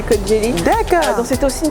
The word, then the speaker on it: Kocaeli: Et Kocaeli, voilà, ça s'écrit Kocaeli, mais ça c'est Kocaeli.